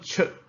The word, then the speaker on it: 出: In this one, 出 is start with, you imagine like the T sound, 出 okay?